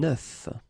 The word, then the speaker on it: œuf: about eggs is that if you listen carefully, the pronunciation is changing quite much, because for the singular form it's œuf, but then for the plural form here it's okay? Des œufs.